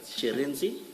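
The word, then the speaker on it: Shirindzi: Sharenzi. Thank you. Can you please say it again so that we get it right? Sharenzi. Sherenzi.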